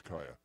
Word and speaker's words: Caia: it's easier pronounced cuz I had no idea was kya how sexy is that it is sexy but you coulda spelled a ki a of course I guess